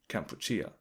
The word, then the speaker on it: Kampuchea: And along these lines as well, the actual name of the country has changed from the French pronunciation, Cambodge, to Kampuchea, the Khmer pronunciation of the word.